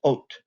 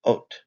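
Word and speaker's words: אות: I've included here, this is the Hebrew word for sign, and it's pronounced ot, aleph, vav, tav. This is how it looks in modern Hebrew, and it's just pronounced ot.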